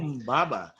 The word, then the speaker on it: Humbaba: Humbaba. And that's Humbaba. actually That's how a they great name pronounced too, it.